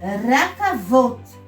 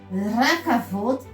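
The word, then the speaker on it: רכבות: Então vai ser racavote. Rakavot seria então trens em português.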